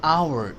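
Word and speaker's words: hour: an apple an एग एन एन of view N orange N umbrella an आवर H silent है तो ओ आ गया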